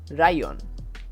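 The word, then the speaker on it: ライオン: Katakana to write example Lion in Japanese is Ryon listen to my pronunciation properly rayion and this is example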